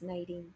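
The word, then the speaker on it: Kneiding: Oh, pronounced Nadine, thank you.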